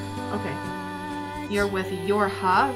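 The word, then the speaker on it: YoRHa: robot head that's very creepy hey you're with yora it's pronounced your ha okay you're with your ha right my mask it's an electromagnetic wave shielding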